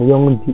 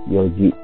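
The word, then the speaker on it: 四時: sangji kalau jam 00 ya bukan yongji ya karena spesial jadi bacanya Yoji jam 5 goji jam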